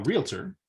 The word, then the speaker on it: realtor: you recommend becoming a realtor which is only two syllables to be to get